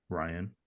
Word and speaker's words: Rian: It says Ryan Craig Johnson, pronounced Ryan.